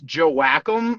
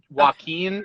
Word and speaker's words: Joachim: name there he is it's joe whackum but if you say it wrong joaquin it's steve joaquin the american dream so i'm fine either way okay is that where